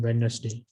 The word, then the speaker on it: Wednesday: If you follow UK, then you need to make the D silent in Wednesday. But if you follow the people of USA, then you need to pronounce D.